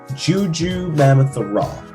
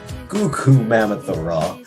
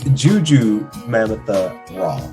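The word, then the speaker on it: Jurnee Smollett: up it's uh uh juju mammoth raw that is her name some people keep saying goku mammoth raw it's juju mammoth raw of course uh the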